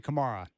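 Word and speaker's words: Camara: fun to watch um camra how did you pronounce it is it cerra or Kamar it's tamman Kamara Kamar that guy is a baby Pippen Pippen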